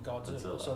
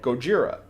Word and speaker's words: Gojira: that name cuz they originally the character was called Gojira our dumb asses mispronounced it and thought do that's a